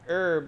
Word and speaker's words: herb: right make another one herb the h is silent i guess i should